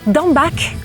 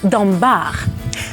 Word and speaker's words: Dambach: juste une petite précision on peut dire d'en basque ou d'en bas vous pouvez prononcer son nom comme il vous plaît cela ne change rien